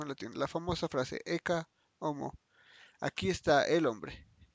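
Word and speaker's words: Ecce homo: Sí, la H no se pronuncia. Eka homo. No, sí. Homo pues no. Eka homo.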